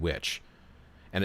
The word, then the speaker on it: wicca: It's actually the etymology behind the word witch. And it's pronounced in Anglo-Saxon Old English. It was pronounced witcha and witche, which referred to a male and female wise person, spiritual practitioner.